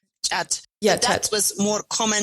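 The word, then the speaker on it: khat: Cat is in English, they pronounce it, chat.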